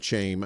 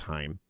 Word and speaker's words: Chaim: I think it's Chaim. I'm not saying shame.